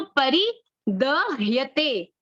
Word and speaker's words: परिदह्यते: गांडीवम संस्रते हस्ता त्वक्चैव परिदह्यते, ह और यह ह्यते होगा इसका उच्चारण।